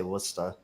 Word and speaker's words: Worcester: no they just yeah they drop their rs but yeah we we'll say worcester and they'll say wora in eastern mass